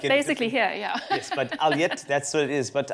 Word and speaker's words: Ulyate: It's spelled U-L-Y-A-T-E, which is Alyat, but some people say Ulyate, Alyate, all sorts of things.